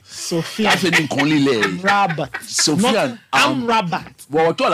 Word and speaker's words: Amrabat: Amrabat. Amrabat. When I talk about languages, okay, touch on it. Sofian. I think only lay. Amrabat.